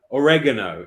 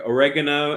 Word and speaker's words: oregano: Oregano in America, oregano and oregano in Britain.